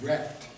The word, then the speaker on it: RECD: The hard truth is that what Noam Chomsky has called really existing capitalist democracy, or RECD for short, pronounced as wrecked, that it is anything but democratic.